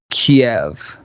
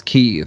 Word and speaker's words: Kyiv: It used to be Kiev, and now it's Kyiv, because I think Biden said it as Kyiv, and they were like, yeah, it's Kyiv now.